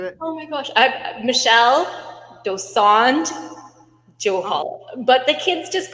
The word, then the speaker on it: Dosanjh-Johal: Michelle Dosand Johal, but the kids just call me Miss.